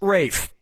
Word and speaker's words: Ralph: Ralph has to Ralph, Reef has to Ralph, Rolf has to Ralph, or Rafe has to Ralph? Yep, Rafe Fiennes' first name is spelled like Ralph, but pronounced Rafe.